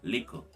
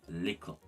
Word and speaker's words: lickle: For example, in the word little, it would be lickle instead of little. Instead of L-I-T-T-E-R, we would have L-I-K-K-L-E. So it would be lickle.